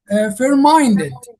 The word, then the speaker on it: fair-minded: And I like uh pronounce the word fair quickly but take my my time when it comes to minded fairminded.